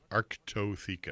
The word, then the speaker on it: Arctotheca: How do you pronounce that again? Arctotheca. Arctotheca.